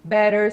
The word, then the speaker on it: better: O T entre duas vogais pode se tornar o som de R. Por isso, better, city, butter.